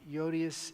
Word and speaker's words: Euodias: Euodias and Syntyche is how they're pronounced in English.